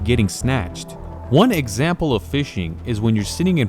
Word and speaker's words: phishing: day is something called fishing fishing is a form of scamming and the term does actually come from fishing with an F but the scamming version is spelled with ph a lot of scammers